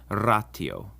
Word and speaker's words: ratio: like in time and never like a sh or a CH as sometimes happens in English with ratio in Latin that word is pronounced Rao the U is actually